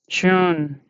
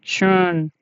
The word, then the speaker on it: schön: Yeah, this one is very long, this vowel. And this sound of this O umlaut is long because here you don't have repeated consonant like tete or consonant following after this.